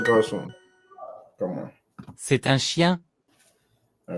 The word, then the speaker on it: chien: Dog is chien. chien, Okay. Chien. The end is silent.